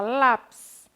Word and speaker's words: lápis: que ele falou pa e de lápis ficou faz tá acentuado e ele já tem mais intensidade no lá né isso e sapato